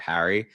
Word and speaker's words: Harry: But I still say my name in a slightly different way than I think most people in the United States. I pronounce it Harry and people I think pronounce it a little bit differently.